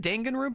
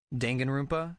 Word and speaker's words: Danganronpa: Danganronpa? Yeah. But like, yeah, officially, I think it's pronounced, at least in English, it's Danganronpa.